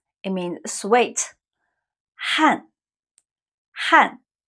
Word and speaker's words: 汗: 汗汗 it sounds like the 汗 from 汉语 but it's not, it's another character.